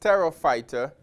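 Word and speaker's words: Pterophyta: name was tarot fighter again the p is silent so it's pronounced Terra fighter and in the book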